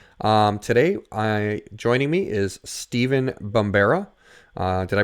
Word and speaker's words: Bumbera: Today, joining me is Steven Bumbera. Did I pronounce that right, Steve?